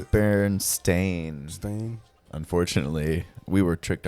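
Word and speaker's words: Berenstain: binded books what's the what's the right way to say that like is it I think it's Baron stain stain unfortunately we were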